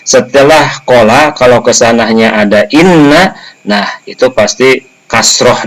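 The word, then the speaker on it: إنّ: Kemudian la rasuluh, ini khobar inna. Nah itu khobarnya itu ada laman, nah maka dibacanya inna bukan anna.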